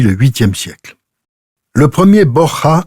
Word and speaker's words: Borja: Le vrai nom des Borgia est Borja, qui se prononce avec un H aspiré à l'espagnol.